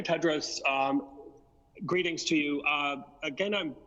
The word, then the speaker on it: Tedros: for the question in the correct pronunciation of my name is dr. Ted Rose greetings to you again